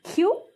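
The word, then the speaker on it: 키읔: এটা হলো ছিউত, ছিউতটা ছ বা সি এইচ এর মতো উচ্চারণ হয়। আর এটা হলো খিউ, খিউকটা খ বা ক এর মতো উচ্চারণ হয়।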